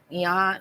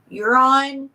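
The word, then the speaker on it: Joran: do you say it I feel like the J is almost pronounced with the U uron uron okay because I always want to say Yan and not uron okay Vander slute she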